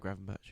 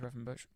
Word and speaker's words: Gravenberch: Is that how you pronounce it? Gravenberch. Yeah. Gravenberch.